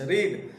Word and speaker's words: read: पढ़ना, पढ़ना के इंग्लिश रीड, रीड के तीनों रूप क्या होते हैं, एक समान ही होते हैं, लेकिन उच्चारण जो प्रोनाउंसिएशन होता है वो चेंज होते हैं। तो जैसे रीड, रेड, रेड, तो यहां पर अब